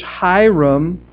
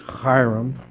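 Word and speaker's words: Hiram: the the cities which ham if you pronounce it correctly it's hyam I'm not going to do that though the cities which hyam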